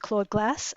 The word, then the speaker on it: Claude glass: I I always pronounce it clawed glass.